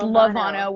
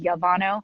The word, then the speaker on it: Llevano: your last name lovano it's lovano with the elves but when i was in college and i made my instagram name everybody called me yavano because a double l should be pronounced i guess that is